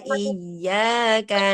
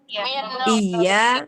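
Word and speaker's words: إِيَّاكَ: Bacaan yang salah adalah iya, i-nya dipanjangkan. Iyyaka na'budu wa iyyaka nasta'in. Iya, i-nya dipanjangkan. Iyyaka na'budu wa iyyaka nasta'in. Nah, itu kalau bacanya seperti itu. Ya, i-nya dipanjangkan. Jadi bacaannya kami lebih abadi dari engkau dan minta perpanjangan waktu. Nah, hati-hati ya membaca i dengan iya itu berbeda banget artinya.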